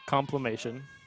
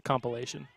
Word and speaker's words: compilation: the season or something complimation yeah it's not how you say it is it it's a compilation oh whatever no not